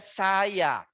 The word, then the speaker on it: saya: So when there is me, I, in Bahasa Indonesia, saya. It's 2 syllable, just say saya.